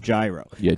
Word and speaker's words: gyro: way pronounced pronunciation of gyro I always said it you are I think gyro is the correct like that is correct way gyro some people say and